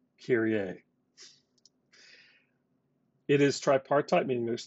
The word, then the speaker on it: Kyrie: name is kyrie and he has the same spelling but i promise you this is pronounced carrier it is tripartite meaning